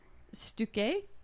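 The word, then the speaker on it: Stücke: Stuke. Stuke? Say it that way. Say Stuk. Stuk. That sounds more German.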